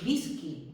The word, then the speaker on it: whisky: la pronunciación más normal, a veces como una U en palabras como whisky. Fijaos, en whisky no decimos whisky, decimos whisky. Y como V, como esta de Volkswagen, y también en Wagner.